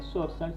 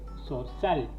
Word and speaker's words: zorzal: Zorzal, o sea, si el acento fuera en la séptima sería zorzal, sin embargo es zorzal, el acento va acá claramente, zorzal, ¿sí?